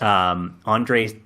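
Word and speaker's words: Andrzej: I think it's just pronounced Andre? Yeah, it is. Andre Sapkowski, Sapkowski, yes.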